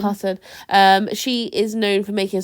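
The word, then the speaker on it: Karssen: I always say it wrong because of how it's spelled. Casson or Cusson? Carson.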